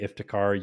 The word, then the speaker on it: Iftikhar: If you tried to pronounce this name, Iftikhar, you would not be able to in a million years.